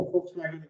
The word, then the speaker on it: Volkswagen: You know, Volkswagen V is pronounced as F.